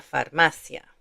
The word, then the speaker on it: farmacia: two sounds, i-a, librería, but there isn't one here. So, the stress is going to be on this syllable, farmacia.